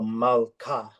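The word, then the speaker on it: מַלְכָּה: just stops at the L. Mal. And then, so that's one syllable, and then you just move to the next consonant, and that starts the next syllable. Okay. So mal, and then it goes to ka. Yeah. So mal ka.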